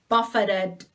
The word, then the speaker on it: buffet: form of strike and if the stress is on the second syllable it's buffet buffet you know what it